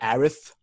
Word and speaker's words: Aerith: I'm trying to correct myself and call it Aerith, but I get it's hard. No, she's Eris. She's Eris. This Aerith shit is dumb. She's Eris. It's the same pronunciation.